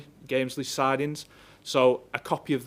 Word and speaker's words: Gamesley: site and, I may get this wrong, this pronunciation, and people may want to correct me, but is it Gamesley or Gamersley? Gamesley sidings.